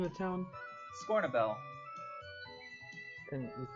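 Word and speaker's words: Scornubel: Scornabel. Can you spell that? Scorn a bell? Scorn, U-B-E-L. BL. B-E-L, like a bell.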